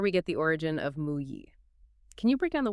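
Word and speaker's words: 木: On the left, you have the radical for wood, which is pronounced "mu".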